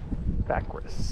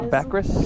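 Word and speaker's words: Baccharis: Backris. Backas. Am I saying it right? Backris.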